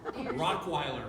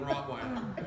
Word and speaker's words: Rottweiler: He would say Rockweiler instead of Rottweiler, or Chimley instead of chimney.